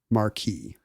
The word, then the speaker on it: Marquis: or it can be Marquee isn't that interesting because I've I've heard it referred to many times in life and it's always pronounced Marquee the Marquee of Queensbury yeah I've